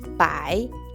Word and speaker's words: 百: Para 100 tenemos otra palabra y es bai. La B se pronuncia fuerte. Bai. A y pronuncia ai. Así que bai lleva el tercer tono.